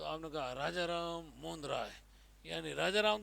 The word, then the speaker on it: राममोहन राय: राजा राम है ना यह राजा तो उपाधि और राम मोहन तो भाई इसका उच्चारण क्या करोगे ऐसे बोलना चाहिए राजा राम मोहन राय राजा राम मोहन राय किसने किया राजा राम